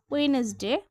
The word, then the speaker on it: Wednesday: তারপর হচ্ছে ওয়েনেসডে WEDNES ওয়েনেসডে। দেখো এখানে কিন্তু ডিটা আসলে উচ্চারণ হচ্ছে না, কিন্তু ডিটা লিখতে হবে ওয়েনেসডে।